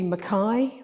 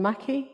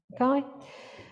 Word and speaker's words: Mackay: That would be Mackay rather than Mackie, yeah? Mackay.